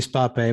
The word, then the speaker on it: Spape: and uh muhil uh spape is it's paper speed sorry yeah you're new uh it's actually spa pay but i was pretty